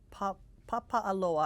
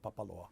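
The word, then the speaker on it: Papaʻaloa: You know, my grandfather was born actually in Papa'aloa. I always mispronounce that name. Well, just out of Hilo. It's not cool to say this, but everybody still does call it Papaloa.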